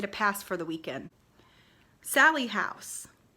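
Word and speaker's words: Sallie House: Sally House. It is the Sally House or Sally House. It is not Sally's house. It is not little Sally's house.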